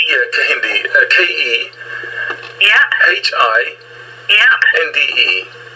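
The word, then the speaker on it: Kehinde: I'll spell that for you. Yep. O-L-A Yep. Y-E-M-I. Y-E-M-I. Yeah, and it's Oluyemi. Yeah, Kahindi.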